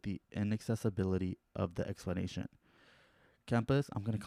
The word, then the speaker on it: Camus: Albert Camus or Cam Yeah, Camus is considered Camus?